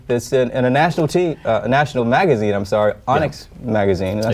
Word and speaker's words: Onyx: Now, there's a good chance that Eric might see a story that's in a national magazine, Onyx magazine. Did I say it correctly? Onyx, yes.